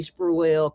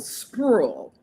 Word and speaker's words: Spruill: Stephanie Spruill coming to the stage. I want to be Definitely. And it's Oh. one syllable, Spruill.